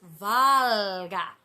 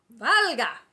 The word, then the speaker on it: Volga: hear sarah dean manley volga is pronounced valga valga algae um on the